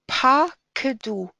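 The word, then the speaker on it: פָּקְדוּ: Ve'elazar hakohen asher pakedu et bnei Yisrael. Pakedu, because this is an open syllable.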